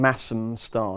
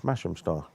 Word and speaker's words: Masham Star: And you're not calling him Massam Star, no? No, it's Masham Star. Why? Don't have bangers and mash, do you? Mash. It's a different thing. It's not. It's how you say it.